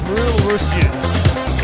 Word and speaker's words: Reulreusyu: In fact, I asked the player himself, it's Reulreusyu, is how he pronounces it anyway, and even he had trouble saying it.